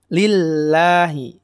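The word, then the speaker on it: لله: cara pengucapannya sama ya bedanya kalau ini Hai pada huruf lam nya di kasrahnya lillahi lillahi tipis ya bukan lillahi tidak lillahi ditahan juga alamnya sama tadi kayak tawasuth enggak lillahi lillahi ilaihi gak tapi lillahi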